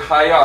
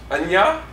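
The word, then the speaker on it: היה: So, the Hebrew word haya, how do you say it? Anya?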